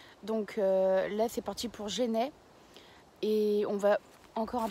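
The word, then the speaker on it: Genêts: Donc là c'est parti pour Genêt et on va encore un peu plus se rapprocher du Mont Saint-Michel.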